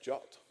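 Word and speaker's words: JWT: H Bank key just one one note it's pronounced jut I have no idea why you know I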